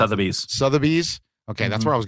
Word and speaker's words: Sotheby's: Years later, it's sold at how do I pronounce Sotheby's. it? Sotheby's.